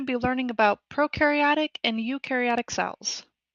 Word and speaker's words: eukaryotic: So today we're going to be learning about prokaryotic and eukaryotic cells. Eu rhymes with you.